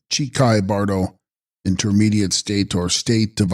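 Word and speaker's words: Chikhai Bardo: Text: Hichai Kahi Bardo, pronounced Chikai Bardo, intermediate state or state of uncertainty of the dying moment or moment of death.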